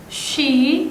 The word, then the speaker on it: she: She, jadi kayak shh. Kalau ada h-nya itu bunyinya bukan s tapi sh.